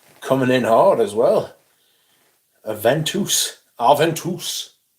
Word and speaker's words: Aventus: Aventus. It's apparently how it's meant to be pronounced.